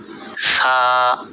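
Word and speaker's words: ث: অক্ষরটি উচ্চারণ করতে গেলে আমাদেরকে প্রথমে জিহবা বের করতে হবে জিহবা বের করে এক আলিফ টান সা জিহবা আগেই বের করতে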